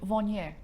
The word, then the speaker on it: Viognier: lovely white wine called vanier you don't pronounce the r at the end so it's and yes